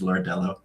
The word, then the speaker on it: Lordello: I'm uh so the correct pronunciation of my last name is lordell it's not oh okay yeah yeah it's uh Portuguese I think oh okay I